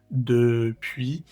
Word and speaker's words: depuis: No lo vamos a pronunciar como la e española, sino la e francesa. Depuis le 19e siè à